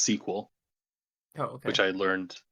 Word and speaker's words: SQL: So it's actually pronounced sequel, Oh, okay.